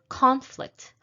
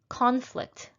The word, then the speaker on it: conflict: that is the verb stressed stressing the second syllable contract people can contract diseases in foreign countries contract contract the next noun is conflict conflict there was a conflict in my schedule so